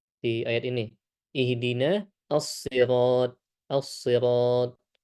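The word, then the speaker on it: الصراط: Assirat menggunakan huruf shad ya. Dan huruf shad. Maka di sini kita berusaha menebalkan huruf shad ini. Ee dan biasanya orang Indonesia agak kesulitan menyebutkan huruf shad ya karena tidak ada di bahasa kita ya as asirat.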